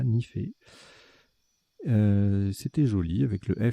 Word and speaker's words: nife: On a joué Nife, N-I-F-E. Vous aurez la définition tout à l'heure, ça se prononce bien comme ça, Nifé.